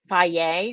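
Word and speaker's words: Fage: is it low carb i eat faye which is spelled f-a-g-e i'll also eat two good sometimes they are low-carb but they are not like no carb uh faye is i think it's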